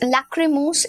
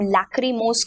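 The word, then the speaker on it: lachrymose: लैक्रिमोस इस पर्टिकुलर शब्द को हम लैक्रिमोस की तरह प्रोनाउंस करते हैं.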